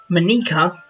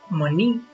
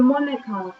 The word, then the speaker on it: Monika: Monika. Monique. No, Monika.